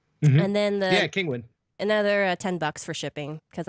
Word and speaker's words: Kinguin: We use Brad's technique of getting a, was it Kinguin? I don't know how to pronounce it. Like Penguin? Kinguin license? Mm-hmm. And then Kinguin.